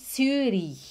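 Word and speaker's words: Zürich: é a língua de surin nessa conhece zurique na suíça zurich se fala suri é assim que se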